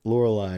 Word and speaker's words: Lorelei: another tops card i guess orange islands um lorelei right that's how you pronounce it from the elite four this one